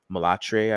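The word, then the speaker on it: mulâtre: She says in France, we say Mulatre. I believe that's the right pronunciation.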